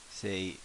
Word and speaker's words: せ: you've completed the symbol so let's say as in seance what's happening here let